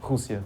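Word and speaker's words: Rússia: How do you pronounce Russia though? Husia.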